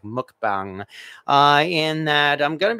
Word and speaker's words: mukbang: Because, yeah, that's why I call this like a cast iron mukbang or mukbang, but I think it's pronounced more like mukbang, in that I'm going